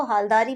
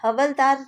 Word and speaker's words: हालदार: भी बोला गया है तो हालदार को हालदार बोलना है हवलदार नहीं बोलना तो आपको स्पेलिंग का